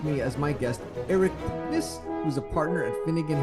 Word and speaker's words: Puknys: How was my pronunciation on your last name? It was authentic Lithuanian.